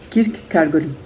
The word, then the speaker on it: Kierkegaard: Eu tenho que pronunciar de uma forma mais alemã, uma pronúncia mais perto do alemão, porque eu nunca ouvi dinamarquês, né?